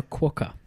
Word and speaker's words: quokka: What about a quokka?